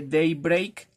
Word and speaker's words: Daybreak: ocasión es el nike daybreak si así se lee se escribe tie-break pero creo que se le de break aquí les dejo la